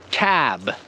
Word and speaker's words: cab: Do you see how the ending of cab is a strong B, cab, as opposed to the word cup? And from experience, I know that for some of you at home, you may have pronounced both of these words cap, cap and cap.